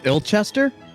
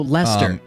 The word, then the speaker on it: Leicester: i mean it's i i know ill chester it's i l c h e s t e r no it's lychester l e i c e s t e r it's uh it's similar to cheddar oh lester it's lester les the british are weird